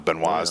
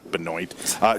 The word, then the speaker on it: Benoit: you know from Canada Benoit's the correct pronunciation not Binoy she looks fantastic she